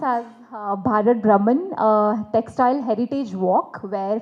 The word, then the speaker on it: Bharat Bhraman: This is the first ever world's uh historic event which is pronounced as Bharat Brahman uh textile heritage walk where 50 plus garments